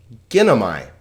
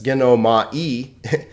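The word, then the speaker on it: γίνομαι: So this is not gin o ma and then like this, gin o ma e. It's ginomai, a 3-syllable word because there are 3 vowels.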